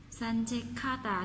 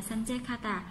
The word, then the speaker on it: 산책하다: 산책하다 chỗ này chúng ta sẽ đọc là 카다 các bạn nhé. 산책하다 nối kia với là hiểu biến thành 카다.